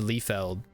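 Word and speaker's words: Liefeld: life Feld Creations also his name should be pronounced lefeld because of how German uh pronunciation works but I'll allow it because he's American or possibly Canadian but I think he's American all right o this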